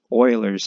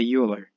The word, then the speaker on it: Euler: That's Euler's number. Don't say Euler, it's Euler. Almost spelled like this.